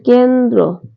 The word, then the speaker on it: কেন্দ্র: জ ন হলন্ত তরফ ওকার যন্ত্র তারপর হচ্ছে কেন্দ্র এর সঠিক উচ্চারণ হবে ক আকার কে নয় হলন্ত দর